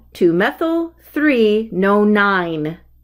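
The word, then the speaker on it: nonyne: called two methyl three no nine no nine is its pronunciation these are fun here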